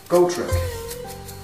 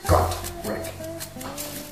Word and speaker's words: Gotrek: Ever since I heard the audiobook, I pronounce his name Gotrek. That was wrong. It's Gotrek.